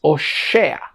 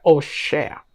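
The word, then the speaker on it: הושע: Pasado al hebreo, Oseas es Oshea. Sí, se pronuncia de esa manera, Oshea.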